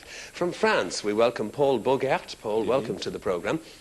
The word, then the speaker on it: Bogart: From France, we welcome Paul Bogart. Paul, welcome to the programme. Is Bogart the right way of pronouncing it? Bogart. Bogart. Just like Humphrey. As in Humphrey.